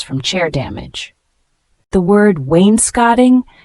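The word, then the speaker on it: wainscoting: chair damage the word Wayne scotting w i ns c o t i n g a noun refers to wood paneling on the lower part of walls pronounced as Wayne skone for instance the Wayne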